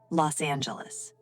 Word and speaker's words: Los Angeles: I'm from Los Angeles. Perfect. Notice the pronunciation. Los Angeles.